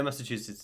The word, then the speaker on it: Massachusetts: Hello to Rich from Massachusetts. Am I saying it correctly? Massachusetts? Yeah, Massachusetts is good.